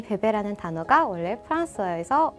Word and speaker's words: bébé: 자, 베베라는 단어 굉장히 익숙하죠. 아기 관련 용품들 이름이라든지 그런 브랜드들 이름을 베베라는 거를 많이 따서 사용을 하고 있는데 이 베베라는 단어가 원래 프랑스어에서 온 단어예요. 정확한 발음은요. 베베. 베베. 베베.